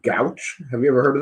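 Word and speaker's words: Gauche: Records, and they're called Gouch. Have you ever heard of them? Oh no, it sounds like gout. Yeah, it sounds like that, but spelled like Gouche.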